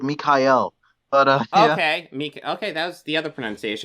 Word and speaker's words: Mikayel: what is it well you can call me Michael but uh in my country it's called Mikhail but uh okay okay